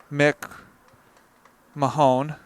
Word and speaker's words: McMahon: Believe it's pronounced Mick Mahone, but Well, that's okay.